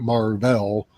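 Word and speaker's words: Mar-Vell: was a cre named Marvell who uh who came to Earth and became a superhero and his name got uh pronounced as Marvel uh and this was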